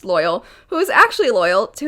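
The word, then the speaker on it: Loial: Ironically, there is one character named Loyal, pronounced Loyal, who is actually loyal to his friends.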